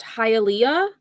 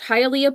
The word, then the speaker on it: Hialeah: I believe it's pronounced Hialeah.